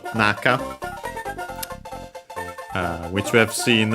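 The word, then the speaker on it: 中: yeah on its own would be naka accent on the first syllable not the one we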